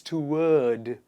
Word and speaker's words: toward: repeat after me sword toward not toward it's to word to urge one more